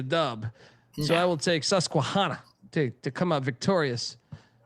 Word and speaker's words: Susquehanna: Is it not Susquehanna? It is Susquehanna.